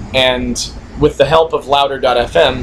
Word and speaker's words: LOUDR.fm: And with the help of Louder.fm, that's LOUDR.fm, spelled like Tumblr, sort of.